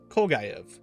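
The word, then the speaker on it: Kolguyev: Kolgayev, that's how you pronounce it.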